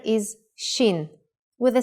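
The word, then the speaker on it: שין: Shin is pronounced sh when the dot is on the upper right side.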